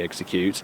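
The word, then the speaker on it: Exeggcute: how you say it gured my first shiny execute and then got one this morning which is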